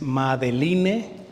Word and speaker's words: Madeleine: Madeleine es Madeline, así como en español sería Madeline, y Delbrel es D-E-L-B-R-E-L, B de burro.